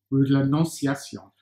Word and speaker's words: Rue de l'Annonciation: Rue de l'Annonciation.